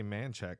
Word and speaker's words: Manchaca: No, but it's weird though, because down there you got to say Manchac, because that's just how they pronounce it. That's how Texans pronounce it. Right. And I'm Hispanic, so I'm like Manchaca just makes sense. I always say Manchaca. Yeah, Manchaca, right? But it's not. It's Manchac.